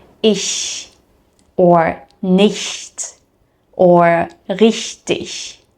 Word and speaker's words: ich: Most beginners automatically replace this sound with a sh sound, so with the lips moving more to the front. So, ich turns into isch or richtig sounds like rushtish.